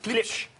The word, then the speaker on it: Klipsch: Oui, Comment tu la prononces? Klipsch.